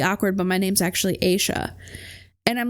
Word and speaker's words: Asha: her name was spelled a s h a you would think she pronounced it asa it was Asa and she said one